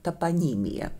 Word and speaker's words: топонимия: Ну, начнем с того, что это топонимия. Да, поставим ударение правильно.